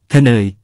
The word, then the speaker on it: เขนย: เขนย (ខ្នើយ) ครับ คำว่า เขนย หมายถึง หมอน ออกเสียงว่า คะเนย พูดกันเป็นประจำอยู่จนถึงทุกวันนี้ เขนย ใช้กับหมอนทุกประเภท ทั้งหมอนรองนั่ง